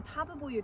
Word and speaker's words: Tabebuia: So it's four syllables, not three, like I try to make it. But the Tabebuia tree is a great